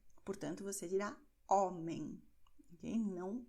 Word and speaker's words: homem: Mas a letra H, sozinha aqui, ela tem o som de nada, ou seja, ela é uma letra que ela é muda. Portanto, você dirá homem, ok?